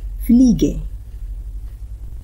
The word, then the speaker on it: Fliege: Fliege.